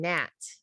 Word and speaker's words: gnat: b and comb or the silent g and gnat get ready for the